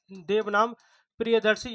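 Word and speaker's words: देवानांप्रियदर्शी: और इसको जो है तो प्रियदर्शी के अलावा यह एक नाम जाना जाता है देव नाम प्रियदर्शी सही जो उच्चारण है यह होता है देव नाम प्रियदर्शी यानी देवों का देवताओं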